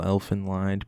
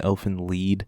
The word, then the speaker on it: Elfen Lied: scene here I know I might be mispronouncing the title Elfin lined because I've been told before it's actually elf in lead so apologies if I